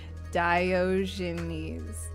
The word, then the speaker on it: Diogenes: Diogenes.